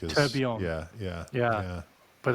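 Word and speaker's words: tourbillon: They did a Toto Wolf limited edition which is am I going to pronounce this right? A Turblon. Is that right? Turbion I think is Turbion.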